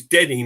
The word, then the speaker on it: Denny: Nick, it's Denny, not Danny.